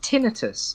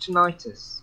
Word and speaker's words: tinnitus: We pronounce it tinnitus. I've never heard it pronounced tinnitus.